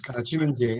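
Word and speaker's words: 清明節: Qingmingjie. Yes, Chimanjay is correct.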